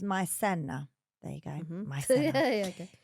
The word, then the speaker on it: maicena: He's from Puerto Rico, Caribbean island, and they make a hot cereal out of cornstarch, which is called maicena, pronounced maicena.